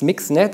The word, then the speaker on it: MXNet: called mixing it so even though it's spelled MX I think they said in the paper you safe to say mix so it's mixed net and I think what